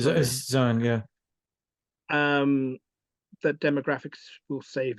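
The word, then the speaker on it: Zeihan: Zion. Right Zion, yeah.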